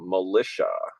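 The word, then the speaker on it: Mulisha: so this is the brand is actually Metal Militia so folks that are out there if you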